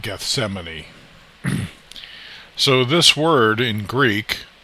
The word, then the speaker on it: Gethsemane: Garden of Gethsemane, and it says it's supposed to be pronounced Gethsemane, Gethsemane, I guess in Greek, but in King James English, or, in just Americanized English, I guess, we tend to pronounce it Gethsemane.